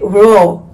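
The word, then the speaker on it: raw: es esta miel que dice ro que se escribe en inglés verdad dice r a w que es como se conoce en inglés Este es el tipo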